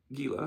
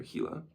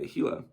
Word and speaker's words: Gila: After resting a few days, we started for Gila or Hila. I'm sorry. I'm used to Gila monsters, so we just spelled with G. But yeah, G I L A Hila.